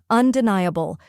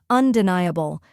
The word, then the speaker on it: undeniable: is n ye which rhymes with high or fly and carries the main stress then comes a which